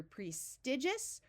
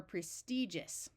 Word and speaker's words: prestigious: to point out that some people pronounce this word with a short I While others pronounce it with a long e so you can say either prestigious or prestigious here we want to